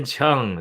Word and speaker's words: Cheung: My special guest is Herman Cheung. Is that how you say it? Cheung? Yeah, Chang.